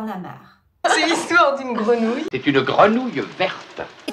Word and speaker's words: grenouille: continue avec le mot grenouille grenouille c'est un mot assez difficile aussi à prononcer donc ici on a le son gre gre gre le son nous nous et le son ye gre Nou grenouilleille